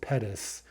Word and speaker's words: Pettus: is a good example it's spelled p-e-t-t-u-s but it's pronounced pettis right with that kind of short u so uh when i